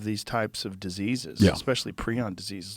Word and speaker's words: prion: he's like we'll call it this and we'll pronounce it this way okay so it's preon it's now I'm now I'm trying to I always try to remember which one it is and it's uh yeah it's pre-own it's scary dude it's scary and and Doug